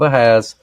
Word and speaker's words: Ahaz: on the dial of Ahaz, Ahaz or Ahaz, however you pronounce that. It's Ahaz. So, anyways, which has gone down with the sundial of Ahaz 10 degrees backward."